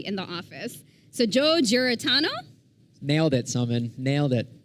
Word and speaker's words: Giarratano: Okay, so I should have asked Joe how to pronounce his last name because we call him Joe in the office. So Joe Giarratano.